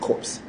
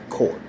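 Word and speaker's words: Corps: the Marine Corp now it's spelled c o r PS don't say it wrong it's not cours core all right in order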